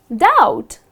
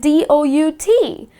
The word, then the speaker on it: doubt: It’s just doubt, something like dout. You do not pronounce the letter B.